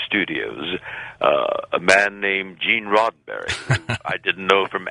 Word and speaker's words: Roddenberry: I mispronounced his name. I called him Mr. Rosenberry, and he, in turn, also made a mistake in pronouncing my name.